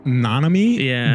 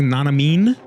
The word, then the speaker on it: Nanami: shouting, he shouts Nanomi, but he mispronounces his name. He goes like Nanamine. Like he puts like an N or something at the end of it.